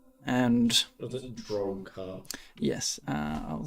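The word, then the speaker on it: Drok'har: My name is Drokar. And... Was it Drokar? yes, I'll spell it for you. Yeah. D-R-O-K. Little apostrophe. H-A-R. Drokar.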